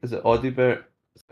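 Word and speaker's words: Odobert: Yeah, it's like, is it Audibert? Is that how you pronounce it? Odebear, yeah.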